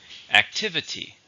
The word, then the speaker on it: activity: around it's a noun how many syllables are an activity there are four stress no second activity it was a pointless